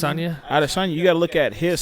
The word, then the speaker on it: Adesanya: But then you gotta look at like Yesanya, what is it? How do you pronounce it? Adesanya.